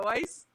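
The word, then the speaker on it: Weisz: Yeah, Weiss.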